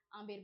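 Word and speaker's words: Amber: आमेर बोलते हैं। B silent है। इसको आमेर बोलते हैं।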